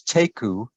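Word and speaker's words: תיקו: that's very interesting the the term is taku tafir you could spell it t e i q u taku really what that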